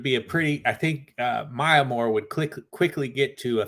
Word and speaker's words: Maya Moore: No, what's her name? It's Oh, Maya Moore. Maya Moore. Okay. Mayamoore. Yeah, I feel like she might outbeat her, like, probably pretty quickly.